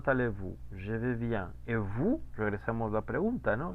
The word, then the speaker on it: vous: Ese diptongo U, ¿cómo se pronuncia? Bonjour. Como U. Como una U, efectivamente.